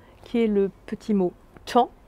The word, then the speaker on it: tant: Et nous avons un petit mot outil qui est le petit mot temps, qui s'écrit ici T-A-N-T. Vous avez donc un T muet à la fin.